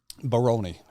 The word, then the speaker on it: Baroni: Baroni.